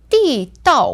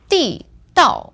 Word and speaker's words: 地道: So this word, 地道, is fourth tone, fourth tone. Now, I've got another pronunciation which has another meaning. That's 地道. So that's the fifth tone in the end.